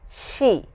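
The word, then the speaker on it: し: is a little different this is an exception here it is not C but it is she similar to this English pronunciation wise it is similar to s-h-e in English so please remember that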